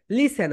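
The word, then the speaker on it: listen: লিস্টেন আমরা কি বলি লিসেন বল লিসন এখানে ঠি সাইলেন্ট থাকে অর্থাৎ এর প্রোনাউন্সিয়েশন হয় না মাইডিয়ার স্টুডেন্টস তুমি যখন এখানে পড়বে এল আই এসই এন লিসেন ওকে সোটি এখানে কি বলতো হচ্ছে এখানে সাইলেন্ট লেটা সোটি এর প্রনান্সিয়েশন এখানে হয় নাহলে তাহলে সবাই বল dear স্টুডেন্ট লিসেন লিসেন লিসেন লিতে জোর দাও লিন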